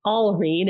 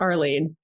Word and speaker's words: Alreen: you with my name so my name is Alene it's a l Reen um not Arlene okay Al okay listeners